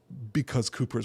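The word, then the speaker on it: Cowper: talk about Cooper, William Cooper. I know, C-O-W-P-E-R. Cooper is how we pronounce that, regardless of what your audiobook version of Sense and Sensibility will tell you.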